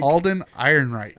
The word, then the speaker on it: Alden Ehrenreich: Alden Ehrenreich.